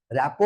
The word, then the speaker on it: rapport: মূল মন্ত্রটাই হলো রেপোর্ট আর এ পি পি ও আর টি র‍্যাপো বলা হয় একে কিন্তু মানে উচ্চারণটা র‍্যাপো হলো ওয়ার্ডটা হচ্ছে আর ও